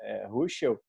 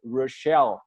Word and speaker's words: Ruschel: Ruschel. Nos Estados Unidos, Rochelle, eles botam um stress, né, na sílaba final.